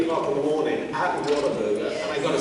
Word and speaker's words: Whataburger: Have you gone to get your Whataburger yet? No, No, it was called What a Burger. Because, you know, Americans say water burger.